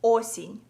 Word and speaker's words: осінь: So if you wanna say autumn in Ukrainian, you would say it like осінь.